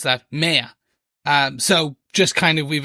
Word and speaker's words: Maya: I think, so basically where this comes from is, obviously her name is pronounced Maya in the show.